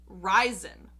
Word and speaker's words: Rhysand: sister about this and my sister pronounces it ryzen so similar to like resin yes but ryzen right like you're rising but we all know